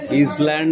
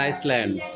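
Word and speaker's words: Iceland: আইডেন 365 এই আইসল্যান্ড ওটা না ইসল্যান্ড না ওটা আইসল্যান্ড উচ্চারণ বল ইংরেজিটা তো পড় তারপর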